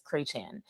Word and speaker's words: Chretien: And the way things are pronounced, like for example, my stepmom, her last name is Crechan, but it's spelled Chretien, right?